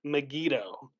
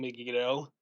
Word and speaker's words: Megiddo: It's called Armageddon, but that's not the right pronunciation. We get Armageddon from the Greek, which is a transliteration of the Hebrew Har Megiddo, which is Hebrew for Mount Megiddo.